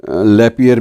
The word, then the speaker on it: Lapierre: डोमिनिके लैपियर भी कहते हैं, कुछ लैपायर भी कहते हैं, अलग अलग उच्चारण अपने अपने देश के हिसाब से होते हैं।